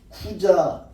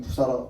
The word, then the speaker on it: 쿠자: 그래서 막다나 마리아 있고 그다음에 또 한 사람은 그 헤롯의 군궐에서 일하던 쿠자 쿠자라는 사람 여러분 성경은 구사라 구사라고 했는데 헬라 발음은 쿠자예요.